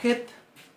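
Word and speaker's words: ח: Bien, la Het es muy parecida a la He. Es muy parecida, pero tiene una pronunciación levemente distinta. Se pronuncia más fuerte. Es una de las guturales típicas de las lenguas semíticas. Típicas. Y se pronuncia bien atrás en la garganta.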